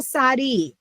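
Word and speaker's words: צ: So, it's T S I think is easiest for English speakers.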